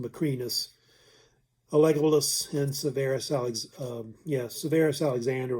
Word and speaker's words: Macrinus: you can see were Caracalla, Geta, it's usually pronounced Macrinus, Alegolus, and Severus Severus Alexander, or usually Alexander Severus.